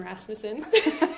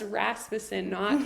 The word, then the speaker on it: Rasmussen: So it's Rasmussen. There's no ass in Rasmussen. That's what we That's say. a good way to remember. And that's how you say it. It's Rasmussen, Not Rasmussen. Rasmussen or Rasmussen.